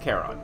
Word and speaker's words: Charon: Charon, that's how you say it.